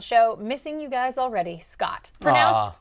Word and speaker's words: Scott: Missing you guys already, Scott. Pronounced like hot, but with an SC instead of an H.